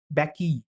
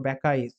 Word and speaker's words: Bacchae: The pronunciation would be like Bacchae, published in 405 BC. 405 BC. The Bacchae or Bacchae, published in 405 BC.